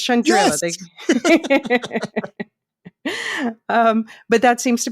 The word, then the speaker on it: Chandrila: line and Shandril Shand Shandrilla. Yeah. Yeah, they were pronouncing Shandril. Yeah, but no, it's Shandrilla.